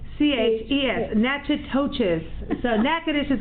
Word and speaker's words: Natchitoches: i T o CH is Natura touches so NACA dish is how it's pronounced and pretty soon they're going to be